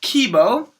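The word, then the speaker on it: K1-B0: bo was one said fully his name is pronounced Kibo which is a pun on the Japanese word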